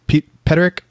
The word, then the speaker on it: Peterik: and you're performing songs written by Jim honey pronounced Peterik Peterik Jim Peter who is the songwriter and